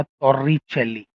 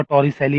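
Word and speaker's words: Torricelli: French name है शायद, टॉर्रिचेली करके ये जो है ये एक्चुअल प्रोनाउंसिएशन है उसका। तो उसी को हम लोग इंग्लिश में थोड़ा टॉरिसैली बोल देते हैं और टॉर इसको बोल देते हैं, ठीक है?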